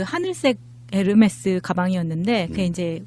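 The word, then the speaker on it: Hermès: 아, 예, 그러니까 나도 처음에 이제 스펠링방 보고 헤르메스죠? 그랬더니 막 웃으면서 그렇게 하면 무식하다는 소리 듣는다고. 뭐라고 해야 되죠? 네, 에르메스. 그냥 콩글리시로 하면 에르메스입니다. 에르메스. 히읗 발음이 안 난다면서요. 묵음이에요. 묵음. H가 발음이 안 되니까 우리가 옴무도 홈무라고 안 하잖아요. 아, 옴무.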